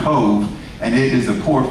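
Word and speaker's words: Cobh: off the coast of Cove, C-O-B-H in the Gaelic is pronounced Cove, and it is the port for Cork in the southern part of Ireland.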